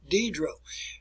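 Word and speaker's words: Diderot: name properly here folks the individual is known as denis deidre denis diedro and he wrote encyclopedia if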